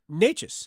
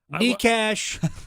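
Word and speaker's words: Nečas: No, it's pretty simple. It's Necas. Yep. How do you pronounce your name, Marty? Necas. Like the Wade Minter, the PA guy, Necas.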